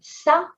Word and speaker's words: ça: regarder, étonné, élégante, raffiné, a softened C. Instead of K, this cédille makes us say ça.